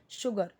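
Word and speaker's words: sugar: एच होता है श, तो यहाँ पे एस यू सू होगा, शुगर केन, लेकिन करेक्ट प्रोनाउंसिएशन क्या है, शुगर केन, शुगर।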